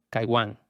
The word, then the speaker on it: Kaiwan: Esta deidad Kiyun en el texto hebreo normalmente se pronunciaría en hebreo Kaiwan.